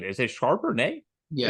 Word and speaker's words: Charbonnet: Is it Charbonnet? Yeah, It's Charbonnet, Charbonnet.